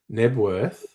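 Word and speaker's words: Knebworth: Can you pronounce that place? Nebworth.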